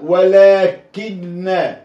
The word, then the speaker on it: ولكن: ولكن، ولكن ما أقولش ولكن، في ولكن آه في ولكن وبرضو ألف ينطق ولا يكتب.